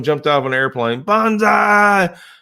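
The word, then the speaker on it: banzai: out of an airplane bonsai well that's BA in first three letters and bonsai is Bo in bonsai so roughly translated it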